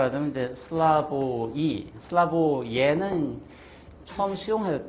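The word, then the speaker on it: Slavoj: 따라서 슬라브의 지제 이렇게 근데 어 발음대로 하자면은 슬라보이 쥐 이렇게 하시면 되고 그다음에 교육부 표기한 대로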